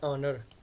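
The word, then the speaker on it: honor: है तो इस तरह इसमें भी एच जो है ना वो लिखा हुआ है लेकिन हम इसको बोलते नहीं हम इसको ऑनर बोलते हैं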